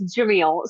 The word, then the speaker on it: Cemil: It's Jamil. So Okay. the Turkish C is pronounced like a J.